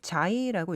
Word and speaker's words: Xi: 근데 이제 그 다음에 문자는 XI, 자이라고 읽습니다. 네. 근데 이제 이게 자이라고 읽기는 해도 읽는 법을 모르는 사람들은 C라고 읽을 수 있거든요.